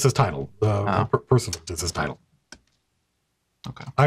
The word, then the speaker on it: Pursuivant: Pursuivant is, I believe, how you pronounce it.